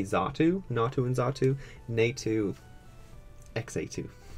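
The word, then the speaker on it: Xatu: Pokeballs Slowpoke xa2 which another thing I've always said NATO and xa2 because I didn't know how to pronounce x a t u as a kid but people say zatu nato and zatu Native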